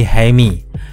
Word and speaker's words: Jamie: Itulah sebabnya di dalam trailer teman-temannya memanggil Jamie dengan pengucapan Latin seperti Jaime. Namun sejatinya namanya adalah Jamie Reyes.